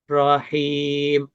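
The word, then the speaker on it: الرحيم: Nah, dua kata ro yang tasdid jadi ditekan. Rahim. Ditekan tapi jangan sampai bergetar.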